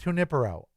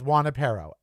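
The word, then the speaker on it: Junípero: They mispronounced Junipero. I lived right by it. A street, Junipro. Everybody says Juanipero. Everybody. And I for 43 years, I corrected people. Every time they said, just go to Juanipero.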